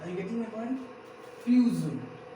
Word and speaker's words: Peugeot: Peugeot. ये क्या? इसे क्या पढ़ते हैं? इसे क्या बोलते हैं? इसका प्रोनाउंसिएशन क्या है? Peugeot? No, it's not a Peugeot. It's a Peugeot.